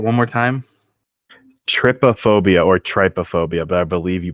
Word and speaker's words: trypophobia: Trypophobia or trypophobia, but I believe you pronounce it's TRYPO phobia. And I believe it's pronounced trypophobia. The Y makes the short I sound there.